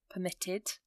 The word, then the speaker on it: permitted: So it's quite subtle, but you can hear the emphasis on the end of the word, or the base form of the word, preferred, permitted.